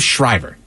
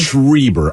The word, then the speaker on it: Schreiber: And you see, and I want to say it was, was it Liv Schreiber? Is that how you say his name? Schreiber, I believe.